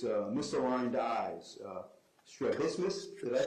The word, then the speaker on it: strabismus: Strabismus? Did I pronounce that? Strabismus.